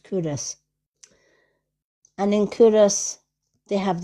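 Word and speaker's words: Culross: A lot of Americans call it Coloss because it's spelled C U L R O S, but to the locals it's Curus. It's pronounced Curus.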